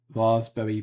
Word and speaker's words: raspberry: Um Rafie uh Raspberry Pie. The P is silent like Samman, not Salmon.